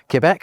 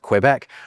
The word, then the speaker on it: Quebec: Alpha Bravo, Charlie Delta, Echo, Foxtrot, Golf Hotel, India, Juliet, Kilo, Lemur, Mike November, Oscar Papa, Quebec, which was the recommended pronunciation by the way, not Quebec, Romeo, Sierra, Tango Uniform, Victor Whiskey, X-ray Yankee, Zulu.